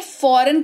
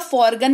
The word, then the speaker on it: foreign: जी के जस्ट बाद है एन, जिसके वजह से ये फॉरेन कहलाएगा, फॉरगन नहीं कहलाएगा, ठीक है, राइट?